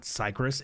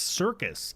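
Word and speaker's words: Syrcus: C trench circus it's it's not cyris it's circus Sy yr oh my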